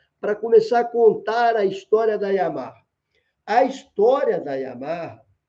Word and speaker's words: Yamaha: Só no Brasil a gente fala Yamaha. Em todos os lugares do mundo é Yamaha, que é a pronúncia correta.